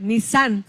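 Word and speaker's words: Nisán: Nissan no es la marca del carro, ¿eh? Nissan con acento en la A.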